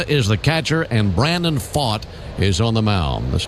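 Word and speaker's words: Pfaadt: They list fought at 6'4 220. He's 26 years old. Last name spelled P F A A DT and pronounced fought.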